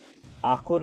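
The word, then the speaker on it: អរគុណ: Ah-kun. Ah-kun.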